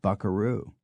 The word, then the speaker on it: buckaroo: Coyote mesit Canyon and Buckaroo Buckaroo was directly adapted from the Spanish v a quu r o a cowboy and thus must originally have been pronounced with the accent on the second syllable many borrowings are more